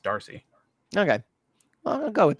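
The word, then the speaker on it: D'Arcy: I think it's just Darcy Darcy yeah but you don't have to pronounce the apostrophe yeah but I think it's pronounced Darcy okay well I'll go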